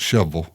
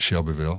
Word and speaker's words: Shelbyville: Nashville nice all right we call it shovel call it what Chevrolet Louisville right okay exactly all right well that was that you would pronounce it Shelbyville Shelbyville call it shovel